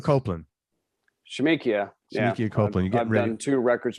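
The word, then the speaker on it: Shemekia: records with her i thought no um oh shimiko copeland shamikia thank you copeland two records with her we're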